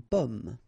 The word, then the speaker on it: pomme: Because in that case, normally it should be a bit lower, pomme, and then here more open, so pomme, okay?